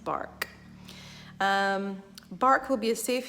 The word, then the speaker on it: BARC: Behind Animal Rescue Center which very very aptly is pronounced bark bark will be a